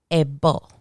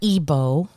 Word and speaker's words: ebo: drives me absolutely bonkers a bull not ebo cause ebol is something else a bull and in spanish a bo here's another one ya